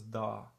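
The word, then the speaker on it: dağ: have to pay attention then you pronounce this one longer so this is effectively pronounced as da okay da da means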